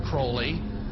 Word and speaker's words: Crowley: he likes to bring have his name pronounced Crowley to rhyme with holy and the satanists today